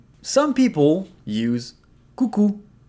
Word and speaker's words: coucou: Some people use “coucou” Coucou ! So here again, we pronounce everything O & U together are pronounced /u/.